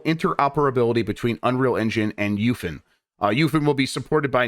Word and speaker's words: UEFN: UEFN, which is Unreal Engine for Fortnite, that's how they say it, UFN, will allow for cross-play